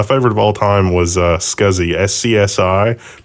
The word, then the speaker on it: SCSI: Well, my favorite of all time was SCSI. SCSI. People in California, for whatever reason, pronounce that sexy.